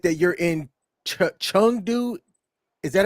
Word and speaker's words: Chengdu: You said that you're in Chengdu. Is that how you pronounce it? Yeah, Chengdu.